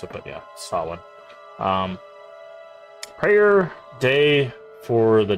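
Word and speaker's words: Samhain: Just how you're supposed to say that by the way, not Sam Hayne, which is how people usually pronounce it. It doesn't really matter how you pronounce it, but yeah. Sawin.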